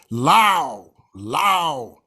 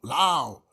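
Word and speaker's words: لو: The hypothetical if, and I mentioned that in the khutbah yesterday, lao, like ow, lao. The particle lao rhymes with the English word wow.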